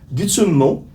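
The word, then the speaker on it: Tummo: Ça s'écrit T-U-M-M-O, mais ça se prononce Gutsummo.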